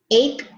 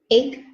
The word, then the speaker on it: ache: Okay, so you know the word make, to make a cake? Okay. Ache is like this. Make, ache, ache.